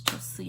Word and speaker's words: Chelsea: My name is Chelsea. It rhymes with Kelsey.